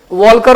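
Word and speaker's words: Walker: वाले पहले विद्वान थे वॉल्कर महोदय। क्या नाम था उनका? ऐसे वॉकर बोलते हैं हिंदी में, वॉकर, एल साइलेंट होता है, वॉकर महोदय।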